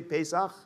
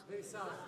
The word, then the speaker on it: Pesach: Passover, Pesach, say Pesach. Pesach. Very good. Pesach. You should feel spit on the back of your neck if the guy behind you is saying it correctly.